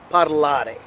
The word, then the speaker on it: parlare: So it's parlare, falling on the second syllable.